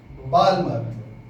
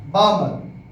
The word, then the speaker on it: Balmer: अब आप इसको क्या बोलोगे? बामर। एल साइलेंट है। और मैं इसको बालमर बोलता हूं बच्चों। ठीक है? कोई दिक्कत तो नहीं है? ऐसा इसलिए ताकि तुम लोग स्पेलिंग में गलती ना कर दो।